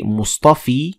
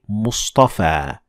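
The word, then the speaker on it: مصطفى: side yeah max Ora is pronounced like an Aleph like in the word Mustafa Mustafa so we don't say Mustafi we say Mustafa so yeah Mott's Ora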